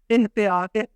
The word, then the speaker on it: احتیاط: اجتناب۔ احتیاط، تے کے اوپر زبر نہیں پڑھیں گے۔ ارتقا، تے کے نیچے